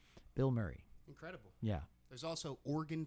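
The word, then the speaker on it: Bilmuri: For the listeners, it sounds like I'm saying a celebrity's name, but it's spelled as one word, B-I-L, one L, no space, M-U-R-I. That's how it's spelled. Bill Murray.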